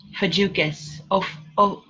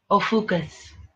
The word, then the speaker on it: Ophiuchus: And I don't know if I'm pronouncing it right. Ophiuchus. Ophiuchus.